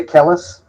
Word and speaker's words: Kellis: So, do we have any Great Heart tracks on hand, or any Tim Kellis tracks? I think I do. I'm pronouncing that right. I'm pronouncing that right. Yeah, Kellis?